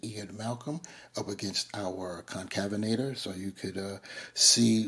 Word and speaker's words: Concavenator: with me please show mercy and be gracious concavenator concavenator one last time concavenator I looked it up that is how it's pronounced anyway uh just having some fun here